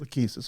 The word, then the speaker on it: Lachesis: You pronounce it, so I don't have to make a mistake. Lachesis? Lachesis.